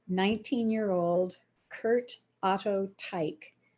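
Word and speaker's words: Teich: year old curt otto tyke tyke is spelled t-e-i-c-h he was the founder of the curt tyke company which was operated in chicago from 1898 to 1978.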